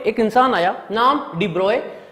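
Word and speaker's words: de Broglie: यहां पे एक इंसान आया, नाम डिब्रॉय, स्पेलिंग अलग है, प्रोनाउंसिएशन है डिब्रॉय।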